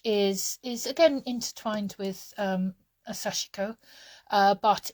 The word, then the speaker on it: Sashiko: As far as I'm aware, the Japanese don't have very much intonation in their words, so I used to call it Sashiko. But that's not how they pronounce it when you watch sort of some of the Japanese videos.